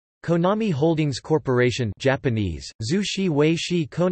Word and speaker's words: Konami: The name, Konami, Japanese pronunciation, Konami, is a portmanteau of the names Kagemasa Kazuki, Yoshinobu Nakama, and Tatsuya Miyasako.